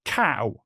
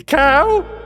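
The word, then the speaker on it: Kao: a boxing kangaroo with a name spelled like this and it is pronounced cow. The ad for the reboot even has the phrase ko in it. Seriously, cow.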